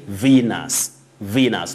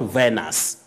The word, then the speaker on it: Venus: ki sumo that planet you say venus not venus what we see is v-e-n-u-s that is the spelling but letter e takes the long sound e venus marrow soldier of condeli